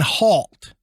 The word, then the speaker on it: Halt: ways but i think i've said heart more than hal the correct is is halt h-a-l-t right right so it is colonel halt and i i've i'm